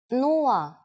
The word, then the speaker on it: нула: It's similar to one of the versions of zero in English, but with a different pronunciation. Нула, нула.